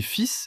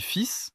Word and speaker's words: fils: Tu écris fils et fils exactement pareil, mais tu ne les prononces pas pareil. L'un se dit fils, l'autre fil.